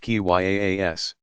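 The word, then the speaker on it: قياس: of reasoning by analogy kia's pronounced ki yaa s that followed strict rules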